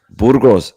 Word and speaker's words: Burgos: Burgers is my alias at work. Not burgers, Burgos.